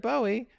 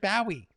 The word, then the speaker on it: Bowie: It's not pronounced Bowie. David Bowie doesn't pronounce his name David Bowie. You're just trolling the world with that. You're making a mockery of the world with that. Your queen and your whole aristocracy, your monarchy, your House of Lords. You can flush them down the toilet because they're worthless. Well, David Bowie became a New Yorker, right? He's always pronounced his name Bowie.